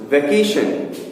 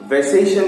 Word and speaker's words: vacation: वैसे ही वेकेशन, वैसेशन नहीं, ठीक है, क, सी का उच्चारण क होता है।